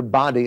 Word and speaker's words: Boddy: There was a great man that had been touched by the Azusa Street revival meetings named Alexander Boddy, is the way you would say his name.